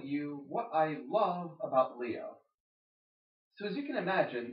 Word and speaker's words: Lio: kid called Leo and his name is spelled l i o instead of L E O but hey I guess